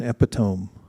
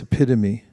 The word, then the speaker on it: epitome: And there is no such thing as an epiome. It's epitome. Mhm. It's just that everyone mis not everyone many people mispronounce it because of the way it looks.